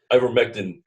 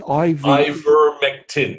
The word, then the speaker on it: Ivermectin: medical system would rather sell you 5 or 6 drugs to do what one ivermectin treatment does.